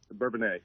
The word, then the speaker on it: Bourbonnais: Did I pronounce that right, by the way? Is it Bourbonnais or Bourbonnais? Bourbonnais.